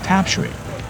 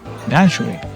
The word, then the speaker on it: Tamsui: We started our journey across Taiwan from my wife's hometown of Tamsui, or Danshui, however you want to pronounce it.